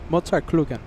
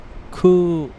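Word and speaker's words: Mozartkugeln: Mozart Klugen. Is that how you say it, Josh? Klugen? Kugeln.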